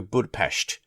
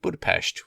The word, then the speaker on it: Budapest: going to go to Budapest or Budapest, depending on how you say it. And, of course, Nat has to say it like Budapest with the proper enunciation of how they say it out there.